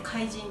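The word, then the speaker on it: 海神: イトルが海神と書いて怪人と呼びます。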